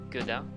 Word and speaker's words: Godin: Godin is, by the way, it's pronounced Godin. It's French, and it's the word dingue, which puts backwards dingue, Godin, and dingue in French means crazy, because I think I'm crazy.